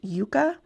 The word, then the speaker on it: Yuka: I think it's pronounced Yuka, but it is spelled Y-U-K-A.